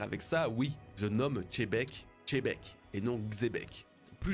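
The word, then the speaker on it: Xebec: encore de commentaires avec ça oui je nomme chebeek chebeek et non xbec plus j'en parle plus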